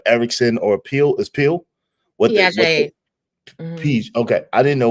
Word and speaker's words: Piaget: How you pronounce his name again? The other one? Piaget.